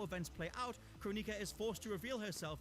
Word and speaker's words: Kronika: It's pronounced Kronika.